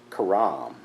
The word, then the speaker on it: herem: So this was something called Karam. So it's spelled Kherem or Kharam.